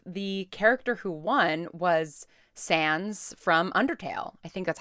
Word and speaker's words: Sans: character who won was Sans from undertale I think that's how you pronounce the name I'm assuming it's like Sans like sans-serif but yeah Sans from undertale